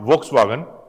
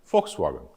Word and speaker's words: Volkswagen: To remember the spelling, you must say von, but actually his father kept the name as von because V is pronounced as for in German. It's not Volkswagen, Volkswagen.